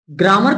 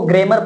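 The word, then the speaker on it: grammar: पहले फिक्स नहीं रती ग्रामर की जो स्पेलिंग आपके सामने आती है वो आती है जी आर A double M ए आर आ है कुछ कुछ लोग ई लगा देते के जगह उसको गेमर पढ़ते हैं स्टार्ट टू ग्रामर का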